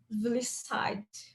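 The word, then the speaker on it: Vlissides: Que aí foi com o Eric Gama, Richard Helm, o Ralph Johnson e o John Vlisside, segundo a moça do Google, é assim que pronuncia, que é o nosso Gang of Four,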